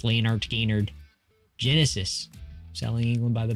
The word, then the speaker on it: Lynyrd Skynyrd: Steely Dan, Lynyrd Skynyrd, pronounced Leonard Skynyrd, Genesis, Selling England by